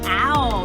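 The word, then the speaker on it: เอา: How do you say yes in Thai? Ow. Ow. It's like ow, Like ow, ow, ow. Like ow, that hurts. But in Thai, that's ow.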